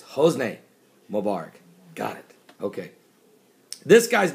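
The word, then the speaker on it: Hosni Mubarak: an email says Paul his name's not Jose Mubarak it's hos Mubarak got it okay this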